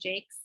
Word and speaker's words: Jacques: these are the red wall series by Brian Jakes j-a-q-u-e-s it looks like Jacques but it's pronounced Chase and they're uh it's set like in a